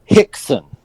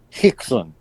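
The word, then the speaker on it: Rickson: again the r foreign his first name is pronounced like an h can we can we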